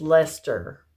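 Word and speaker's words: Leicester: that's a DK and that is how you say that word blueface Lester or you just say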